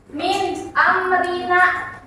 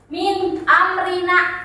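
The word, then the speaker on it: مِنْ أَمْرِنَا: Min amrina. Min amrina. Jelas kan? Enggak mim, jelas kan?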